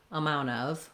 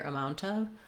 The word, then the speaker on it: amount of: That would sound weird, but there's no T whatsoever in the most common way. So to summarize, the most common way that you'll hear Americans pronounce amount of is amount of with no T.